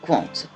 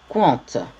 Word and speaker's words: Qwant: le logo un cul qui s'écrit q w1 nt1 cointe - je lis compte ça peut se lire compte où pendent je ne sais pas voilà à vous de voir mais moi je lis compte voilà donc ce moteur